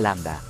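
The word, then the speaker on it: lambda: Allí se ve claramente la letra l que en griego se pronuncia Landa la razón es simple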